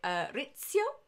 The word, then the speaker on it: Rizzio: And of course, it was in Holyrood that her secretary, David, I think you pronounce it Rizzio. I'm trying to do the Italian pronunciation.